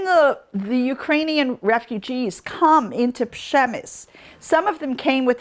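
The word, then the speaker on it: Przemyśl: Okay, so it's in Little Przemysl. That's how you say it. Look at it, the spelling of that. Przemysl.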